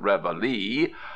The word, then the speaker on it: reveille: place our morning March Reveille as nobody pronounces this word a La France says as everybody calls it reveli why not drop it